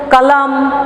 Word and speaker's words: कलम: तो देखिए इसका अंत में क्या आया, अ उच्चारण आया। तो ज्यादातर लोग क्या करते हैं, कलम कहते हैं, लेकिन हिंदी में इसको कलम नहीं कहते।